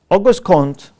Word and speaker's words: Auguste Comte: August of course a spelling is with em but it's pronounced n Auguste Comte was a philosopher who